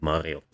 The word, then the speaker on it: Mario: So because of this, the male name Marius was pronounced Marius, and Mario is still pronounced Mario.